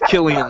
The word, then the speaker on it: Cillian: It's Killian Not? Murphy. Is it Killian? I heard Kylan or Kylian. It's Killian Murphy.